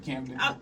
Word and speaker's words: Camden: And then you're from, and I'm Mexican, so English is my second language, but you're from Camden, Arkansas? Yes. How do you pronounce that? Oh, you said it right, Camden?